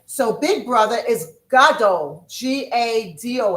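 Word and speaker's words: גדול: So, big brother is g a d o l. Gado. Big brother.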